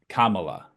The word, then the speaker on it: Kamala: saying it right um basically Kamala Kama and then La so yeah I didn't